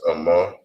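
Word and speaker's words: אמא: And for mother in Hebrew, that is pronounced as Amma.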